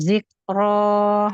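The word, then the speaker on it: ذِكْرَىٰ: Kaf itu ada keluar udara. Zik. Lepasin udaranya. Zik. Zik Ro. zik Ya. fal Zik. Ro. zik zikra zikra. Jangan sampai mantul. Bukan zik ro. Tapi zik ro. Lepasin udaranya.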